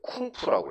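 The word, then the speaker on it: 工夫: 그 중국 사람들은 저걸 읽을 때 쿵푸라고 읽습니다.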